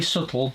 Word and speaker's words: subtle: It's very subtle with a silent B, which is same as swimming with a silent P.